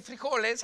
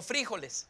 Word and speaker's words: fríjoles: escuchado pues por ejemplo en lugar de decir frijoles ahora digo fríjoles Ah el acento en la fríjoles asento en lugar de decir